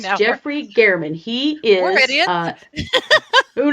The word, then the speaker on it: German: It is not German, as we have been Yes, saying this entire time. I It's know. Jeffrey Gehrman.